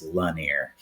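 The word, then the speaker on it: Lanier: He said it's not Lanir, it's Lanir.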